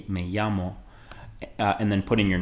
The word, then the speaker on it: llamo: Notice how the double L is pronounced. It's pronounced like a Y sound, so me llamo Tony.